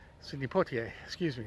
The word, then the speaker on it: Poitier: it's the current home of iconic actor sydney pontier sydney pottier excuse me it's a little difficult for me to to pronounce sometimes anyway the house is up ahead